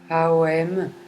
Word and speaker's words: Om: Vous pouvez venir vous réciter le mantra Om, mais plutôt sur 3 syllabes. Aom, Haom, Haom, Haom.